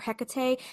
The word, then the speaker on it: Hecate: Um, in Shakespeare's time, people often dropped the final e like the heck or hecate and pronounced it hecat, which we're just saying heck. So, it's just the two syllables.